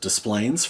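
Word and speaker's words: Des Plaines: It is pronounced Displayplains for anyone who is curious.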